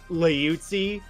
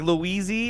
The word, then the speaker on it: Liuzzi: But it's like the Italian pronunciation is probably like Liuzzi.